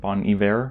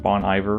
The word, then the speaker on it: Bon Iver: For Emma Forever Ago by Bon Iver, I think is how you say it. Not Bon Iver, which is what I was saying for years.